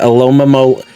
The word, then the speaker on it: Alomomola: Alomomola.